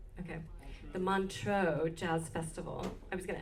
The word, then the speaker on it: Montreux: She was a featured soloist in is it Montreux, even though it has an X in it? Is that how you say it? Okay. The Montreux Jazz Festival.